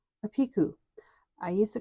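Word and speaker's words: picot: do what's called a piku I used to call it a picket but I learned it's actually a French word and you don't pronounce the T in it so it's called a piku you're going to chain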